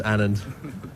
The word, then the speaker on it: Anand: You said you get Anand and Anand. Let's set the record straight nice and early in your career. Yeah, it's Anand.